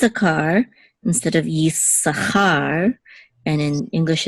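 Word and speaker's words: Issachar: in English it's it's a car instead of Yi Sahar and in English it's zebulin accident on the first syllable but in Hebrew it's the volume Accent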